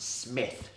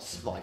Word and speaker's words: Smith: By the way, it's pronounced Smith, not Smythe.